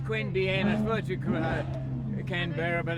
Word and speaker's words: Queanbeyan: to Queen bian okay Queen bian that's how you say it it's Queen bian I you can be